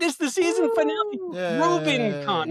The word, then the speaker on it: Rubincon: Rubincon, not Rubicon, like Albie was saying.